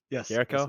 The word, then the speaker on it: Jericho: Is that how you pronounce it? Yes. Jericho.